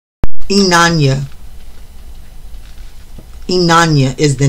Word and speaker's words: Inanna: Let me get the pronunciation of the name right. Inanna.